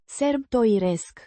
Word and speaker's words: sărbătoresc: Pronounced roughly as Sər-bə-to-resk. with the stress on the third syllable.